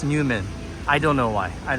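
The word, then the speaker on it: NEWoMan: here is Newman yeah it says new Oman or it could be pronounced new woman I'm kidding it's actually pronounced Newman I don't know why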